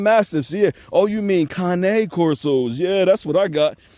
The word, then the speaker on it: Cane Corso: Yes, a lot of people call them Cane Corsos. They are not Cane Corsos. They are Cane Corsos, Italian Mastiffs, all right? Just something for y'all to start pronouncing right.